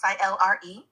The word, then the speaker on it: Sailari: A female Pleiadian energy named Sailari, pronounced Silre.